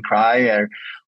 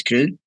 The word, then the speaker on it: Kry: So we say Kry in all our meetings, but definitely our English native speakers are saying cry or something similar. But I think everybody learned now that it's Kry. Even though pronunciation differs a bit from language to language, but definitely it's Kry.